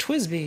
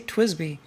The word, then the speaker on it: TWSBI: Yada yada, but people have told me in the comments, no, it's pronounced Twisby. You're supposed to say Twisby.